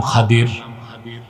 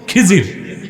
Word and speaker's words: খাদির: নেককার বান্দা তার নাম খাদির যারে আপনারা বলেন খিজির খদির বিফাতলখাদ খদির তো আমাদের দেশের লোক বলে কি খিজির এটা ভুল উচ্চারণ শুদ্ধ উচ্চারণ কির